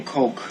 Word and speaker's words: Coke: 해외에 가서 콜라 주세요 하고 싶을 때 여러분이 발음을 잘못하면 진짜 이상한 사람 됩니다. 코크, 코크 플리즈 이러는 순간 이 사람들이 여러분을 이렇게 쳐다볼 거예요. 왜냐하면 대체되는 단어가 있어요. 이 단어로 그들이 떠오르는 단어는 COCK로 들려요.